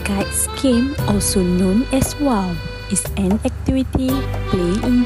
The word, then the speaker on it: wau: The word of wow is come from the shape of its wing, which resembles an Arabic letter, which pronounced wow.